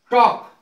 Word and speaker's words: talk: टॉक, टॉक माने बातें करना, TALK, तो इसमें एल का उच्चारण नहीं होगा, ये के से पहले आया है।